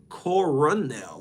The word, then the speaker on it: colonel: Like, if you see that, you spell it colonel. But no, it's coronel with an R.